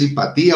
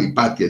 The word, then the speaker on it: Hipatia: Yo no me acuerdo si es Hipatía o Hipatia, ya que se me olvida. Lo pronuncian de las dos formas.